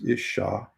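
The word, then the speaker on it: אִשָּׁה: And to pronounce it is Isha.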